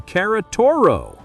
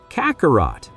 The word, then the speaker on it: Kakarot: Okay, if you like it more, I'll call you Karatoro. Vegeta said his name wrong. Kakarot.